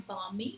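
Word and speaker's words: balmy: ये शब्द है मानी इसको कहा जाता है बामी बा लंबाई को प्रोनाउंस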